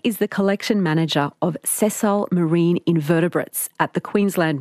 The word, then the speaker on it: sessile: Now, marine and invertebrate, I have a sense of, but what does the word sessile mean? Yeah. Am I even saying it the right way? No, you're saying it right.